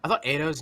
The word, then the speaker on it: Ado: Because I thought Ado's name was just pronounced like the word ado, because that's an actual word, like much ado about nothing, like ado. But it's actually Ado. It's pronounced the vowel is actually pronounced the exact opposite.